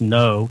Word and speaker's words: know: Um, think about the words no k n o w and no n o.